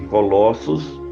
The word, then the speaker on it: Colossos: Pronuncia-se Colossos.